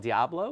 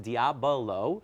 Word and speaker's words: diabolo: A lot of people call it diablo, which is d i a b l. And this is pronounced diabolo.